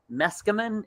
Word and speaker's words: Meskimen: our amazing guests jim meskerman am i saying that correctly you are very good eskimo yeah you just take a run and leave that let's come in it rhymes with mescaline that's how i i